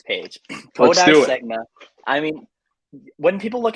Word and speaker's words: Senga: Most particularly, Kodai Senga, right? Did I pronounce it? Mm-hmm. Close, Segna, right?